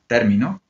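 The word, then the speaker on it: término: that and for example we have the word Termino Termino Termino then Termino is turn the the stress in the first syllable mhm Termino is Termino sorry Termino is I finished in Termino he or she finished so different meaning according to the the the position of the stress then when Japanese speakers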